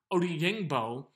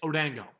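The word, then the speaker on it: Odeyingbo: buzz for correcting me i kept doing or pronouncing his name odingbo which is kind of phonetic as to the way it's is spelled however it's odango that's easier anyway but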